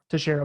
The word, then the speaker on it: Teixeira: Teixeira.